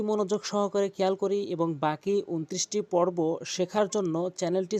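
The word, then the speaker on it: باء: বা হরফটি দুই ঠোঁট মিলিয়ে এভাবে উচ্চারণ করবেন, বা বা বা।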